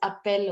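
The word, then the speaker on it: appellent: ils it becomes appel although it has ent in the end but we pronounce it as appel only they call themselves dominic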